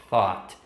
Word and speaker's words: thought: Exatamente assim, pode ser meio complicada essa pronúncia, mas coloca a língua no meio do dente e faz exatamente do jeito que eu estou fazendo aqui. Thought, que aí fica no passado.